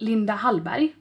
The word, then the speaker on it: Linda Hallberg: This is Linda Hallberg. Eller, it's called Linda Hallberg. It's how you pronounce it in Swedish.